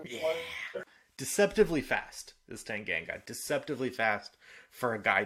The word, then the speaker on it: Tanganga: people scream for a red card, even though Tangale. It was how do I say his name? Tanganga.